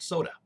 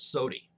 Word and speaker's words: soda: When I was younger, I pronounced it sody. A lot of people in Missouri still pronounce it that way, sody. I don't know why, because there's no IE on the end of that word. There is an A, but go figure.